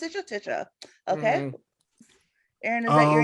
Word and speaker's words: Tisha: That's pronounced Tisha.